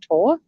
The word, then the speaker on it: Thor: who's male his name you spell it thor t-h-o-r but in denmark thor is pronounced tor who keeps that not